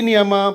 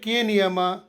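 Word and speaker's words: know: ಇಲ್ಲೂ H silent ಇರುತ್ತದೆ silent K ನಿಯಮ ಪದದ ಆರಂಭದಲ್ಲಿ ಎನ್ ಅಕ್ಷರದ ಮುಂಚೆ ಕೆ ಬಂದರೆ ಕೆ ಅಕ್ಷರವನ್ನು ಪೂರ್ತಿಯಾಗಿ ಸೈಲೆಂಟ್ ಮಾಡಬೇಕು ಇದುಕೆಎಓ ಡಬಲ್ ನೋಕೆಎನ್ ಐಎಫ್ಇ ನೈಫ್ಕೆಎನ್ ಡಬಲ್ಇ ನಿ ಕನೋ ಕನೈಫ್ ಕನಿ ಅಲ್ಲ ಇದು ನೋ ನೈಫ್ ನಿ ಸೈಲೆಂಟ್ ಎಲ್ ನಿಯಮ ಸಾಮಾನ್ಯವಾಗಿ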